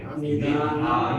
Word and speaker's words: nidhanam: Nidha. Long A. Nidhanam Bijam Avyayam.